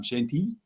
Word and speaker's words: Chantilly: and we're going to go to as i pronounce it chantilly for the french derby and what's the right way tom shanti shanti all right so you got to say